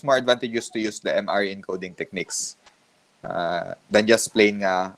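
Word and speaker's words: M-ary: So, dili na siya Mary, ha? MRE. Kung gusto niyo ibulag ang duha, so nice space between sa pag-pronounce sa M o RE.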